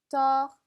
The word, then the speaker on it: tort: 자, 그러면 je pense qu'il a tort 이렇게 얘기하시면 되죠. 마지막 때는 발음이 안 됩니다.